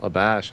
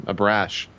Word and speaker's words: Abrash: The head VR guy at Valve, Michael Abash, I think is how you say his last name, Abrash, left and is now at Oculus VR.